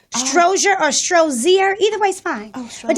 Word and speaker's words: Strozier: Strozier. That's perfect. Is it? Do most people mess that up? It's Strozier, like Crozier High School. Strozier or Strozier.